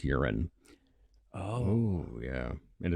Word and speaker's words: Huron: yeah the town of urine South Dakota see you're with me on that too because I've always said the only thing that here on rhymes with is you're right I've been to Huron uh that seems to